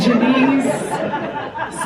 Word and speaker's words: Janice: Janice, spelled like Janice, rhymes with Denise.